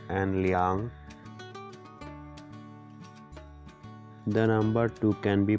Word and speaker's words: 两: learn what is the difference between r and liang the number two can be pronounced as r for liang r is used